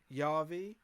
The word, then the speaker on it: Javi: So it's pronounced like Yavi, and I think it's meant to be a Latino name or something.